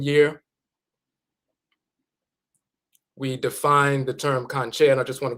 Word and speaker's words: Kankye: Sometimes they say, "Well, we practice Kankye." Or the conjure man, conjure woman, and they'll call the entire tradition the conjure tradition. So, conjure, which we pronounce Kankye, spans across all expressions